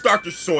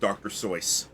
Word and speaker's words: Seuss: Seuss or I guess Dr. So is how it's actually pronounced but Dr. Sauce. He was uh he was German so it's actually pronounced Dr. So but I believe als